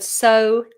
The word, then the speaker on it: sow: Okay, they are pronounced the same as the word S-O.